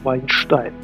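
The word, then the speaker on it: Вайнштейн: Идиш – это смесь иврита и немецкого, поэтому настоящее, правильное, грамотное произношение этих имен будет вот так, как я сейчас говорю – Вайнштайн, что переводится «винный камень».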